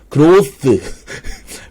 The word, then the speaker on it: growth: 제가 한번 만들어 보았습니다 그로스 그로 th 발음 중요합니다 그로스 모델이라고 일단 목표를